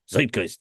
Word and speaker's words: Zeitgeist: of my favorite records, but I never say Zeitgeist if I'm saying it right. I think you're saying it right. Zeitgeist.